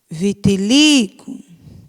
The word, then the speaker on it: vitiligo: tônica é o Gu Vitiligo Vitiligo sílaba tônica é o Li você vai circular eu